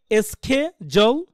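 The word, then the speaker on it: schedule: এল ই আপনি কিন্তু স্পেলিং করবেন এভাবেই রাইট উচ্চারণ করার সময় কি করবেন এস কে জল অথবা অর্থাৎ স্যা জ।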